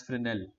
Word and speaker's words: Fresnel: effect is known as flynn L so it's spelt differently than you think Fresnel but yet spinel so